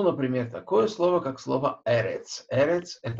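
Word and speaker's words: ארץ: Если мы слышим в слове Э, два Э подряд, да, то ударение падает на предпоследний слог. Поэтому Эрец не на последний слог, а на первое Э.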